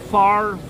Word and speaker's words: Favre: this could be right his name is Bel favy how do you get the RV farv the r has to be before the V if his name was f a r v e it would be